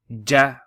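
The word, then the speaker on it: جَ: Okay, let's say we put okay, how would you pronounce that? Khu ja kha.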